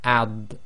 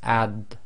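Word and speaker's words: ض: of the most difficult, is the dod, because there's no equivalent in any language. And with the sukoon here, the practice, it will be ad. And again, it's like the ad with the dal, but it's a thick version equivalent. It's the tafkhim version of the dal.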